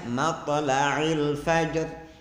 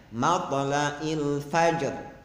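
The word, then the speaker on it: مطلع الفجر: Kemudian kalimat matla'il fajr yang mestinya ain, dia ganti menjadi hamzah. Mestinya matla'il fajr, dia bacanya matla'il fajr. Jadi ain diganti dengan hamzah.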